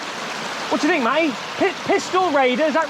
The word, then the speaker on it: Pistyll Rhaeadr: But we've come to visit a waterfall called, let me try and pronounce it here, Pistyll Rhaeadr? What do you think, Matty? Pistyll Rhaeadr, is that right?